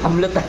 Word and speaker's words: Hublot: Yang angong tamang pronunciation niyan hablot. Hlot. Hublot Hublot.